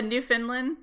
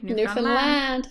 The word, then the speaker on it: Newfoundland: your lash salutation the new Finland and I'm not saying that right carry Newfoundland Newfoundland oh is it secondary stress on the last syllable yes see in IKEA mine